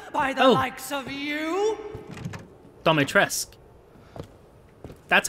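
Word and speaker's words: Dimitrescu: Dimetrescu.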